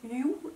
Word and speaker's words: Hugh: Ils prononcent Hugh à l'anglaise, mais à une anglaise bizarre, et j'entendais ça en mode you, et donc je me